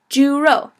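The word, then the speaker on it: 猪肉: the first one is Juro Juro and so that is pork uh so I would pronounce it as Jew like a Jewish person and row like to row about Juro um so remember that's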